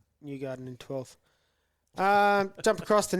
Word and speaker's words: Newgarden: And then Newnoffen got 316th for 12th. Say his name properly so we don't get done for Just wait. defamation. Yeah, so it's Newgarden in 12th.